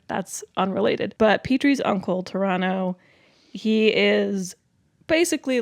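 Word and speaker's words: Pterano: Um, because it has a P in front of it, but the P is silent. Okay. Toronto podactyl.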